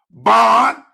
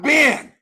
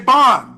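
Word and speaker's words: בן: Ban is son, not Ben, as in the Masoretic. Ben. No, we say Ban.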